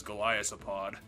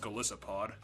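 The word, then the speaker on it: Golisopod: in love with this goliath pod also i'm saying it wrong it's just galicipod yeah glycopod go lie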